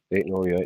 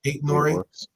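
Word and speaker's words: Aït-Nouri: um uh uh the I8 Nori is that how you say his name yeah eight Nory nor eight Nory yeah so um yeah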